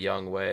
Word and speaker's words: Younghoe: I said it's spelled Younghoe, but it's actually Younghoe. The Falcons kicker. Yeah, exactly. Yeah. That guy. He told everyone that's how it's pronounced. Yes. His name is Younghoe.